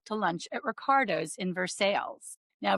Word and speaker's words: Versailles: lunch at Ricardo in Versailles. Now, Versailles is pronounced Versales in Kentucky, not like the place in France.